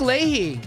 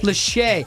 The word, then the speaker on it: Lachey: Nick Leahy. I always forget how to say his name. Lachey.